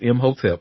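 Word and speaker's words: Imhotep: Uh so his name is spelled I M H O T E P. Yes it is M hotelep honey.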